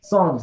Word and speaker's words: Psalms: Yeah, the Psalms. Psalms, the P is silent.